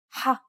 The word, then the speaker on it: ح: This sound does not exist in English. It sounds a bit like you're clearing your throat. You should feel like you're pronouncing an H sound with some friction. You should feel some pressure at the back of your mouth near your throat area. One trick to produce this sound is to push your tongue as far back in your mouth as you can and then say the word hot.